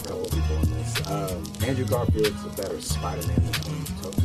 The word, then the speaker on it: Andrew Garfield: Andrew Garfield.